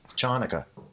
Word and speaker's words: Hanukkah: no that's not Passover it's Hanukkah Hanukkah that's the proper pronunciation all those Jews they